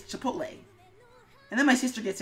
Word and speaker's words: Chipotle: I'm gonna pronounce it Chipotle. And he's like, it's Chipotle.